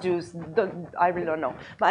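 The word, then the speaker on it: JeOS: So JUICE, I don't know why it's pronounced juice.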